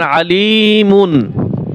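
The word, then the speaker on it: عليم: নুন উচ্চারণ হবে আবার আলিমুন আলি মিম দুই পেশ মুন বানানোর সময় মুন হবে আর যখন আমরা রিডিং পড়বো তখন কি হবে আলিম শুধু মিম উচ্চারণ হবে আলিম আবার এখানে হিসাব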